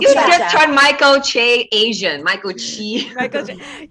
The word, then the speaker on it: Che: Chi? Is it Chi or Just Chi? cause he Michael retweeted Che? a joke. Michael It's Che.